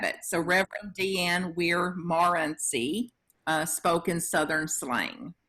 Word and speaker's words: Morency: to my name and the french pronunciation which i do very badly um would be more see so the the the